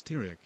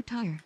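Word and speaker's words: Tirek: Hello, Tyre. No, my name is not Tyre. It's Tyrek. There's a K.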